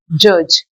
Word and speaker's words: judge: Then this is judge. See, this is judge. D is not shown here. So D is a silent letter here.